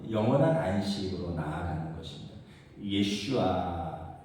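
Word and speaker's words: יֵשׁוּעַ: 예슈아 여호수아가이 히브리어 발음으로 예슈아입니다.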